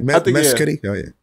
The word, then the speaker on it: Mescudi: Did I pronounce that right? Mescudi? Yeah. Oh, yeah. Mescudi.